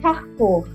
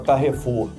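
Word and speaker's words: Carrefour: É o carfur. A gente fala carrefur. Pois é. Parece que vocês estão dizendo que é um quadrado com forno.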